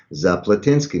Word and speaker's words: Zaplatynsky: pronounced my name and i said zaplatinski he said ah zaplatinsky so i actually melinda